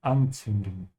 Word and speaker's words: anzünden: Das ist eine Laterne und anzünden, das ist anzünden, ja? Now to give you a few pronunciation tips if you're still having trouble pronouncing, the Z in German, it's pronounced like a TS sound, yeah?